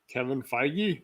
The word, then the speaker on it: Feige: up unless you can say it properly uh kevin feige there you go yeah yeah so pretty